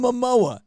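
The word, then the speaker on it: Momoa: as wonder woman right i said his name wrong again didn't i yeah you did oh my god oh my god jason mamoa jason and the eternals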